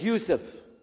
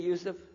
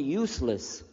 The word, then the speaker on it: Yusuf: My name is Yousef. Can you say Yousef? You said Yousef. Yeah. Very good. I wish you teach my wife. She keeps mispronouncing it. She calls me useless.